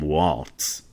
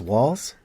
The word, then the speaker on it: Walz: probably mispronounced it Tim Waltz yeah we did so it's walls I think it's walls like yeah I like